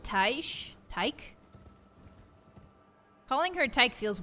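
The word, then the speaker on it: Tiche: The first time I played the game, I pronounced it Tick. But I think it's pronounced Taish.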